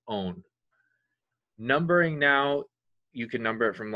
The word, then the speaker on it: one: We cut the E off of our parent hydrocarbon and replace it with one, O-N-E, pronounced own.